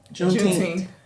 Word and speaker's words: Juneteenth: Juneteenth.